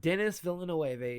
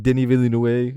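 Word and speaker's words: Denis Villeneuve: And Dennis Villinoe is shooting Dune Messiah entirely in IMAX.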